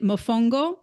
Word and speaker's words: mofongo: Is it mofongo?